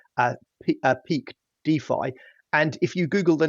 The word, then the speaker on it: DeFi: who knows I'm glad that we've clarified it's pronounced defi because I've been throwing the word Dey around